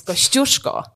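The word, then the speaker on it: Kościuszko: Australians pronounce those names kushko is the proper pronunciation of the Kosco Mountain and staly was the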